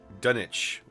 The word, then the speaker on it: Dunwich: Per my Bostonian father, the proper pronunciation of Dunwich is Dunwich. The dun or the W is silent, much like most R's, unless it's at the end of soda to make soda.